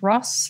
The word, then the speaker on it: Ross: we know foreigner whereas australians don't pronounce the r and so people were constantly saying excuse me and they couldn't understand when i uh said my name because my last name is ross and so for me